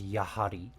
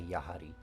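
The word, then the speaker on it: やはり: also sometimes is red uh well read or pronounced as yahari uh I think you have Pari is more common but some people say yahari in fact I might start to I kind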